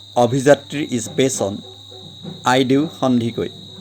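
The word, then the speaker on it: Handique: Now the novel Abhijatri is based on Aidu Handikoi. That is Aidu Hendik. So in Assamese pronunciation is Handikoi.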